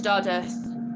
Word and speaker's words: Dodworth: get back home to do earth it's it's spelled dodworth but it's do earth that's how they pronounce it locally um anyway when he